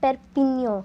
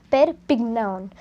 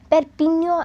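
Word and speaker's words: Perpignan: i g n a n so it is pronounced as perpigno but I have seen most of the people pronouncing it wrong as per Pig noun and that is totally wrong you need to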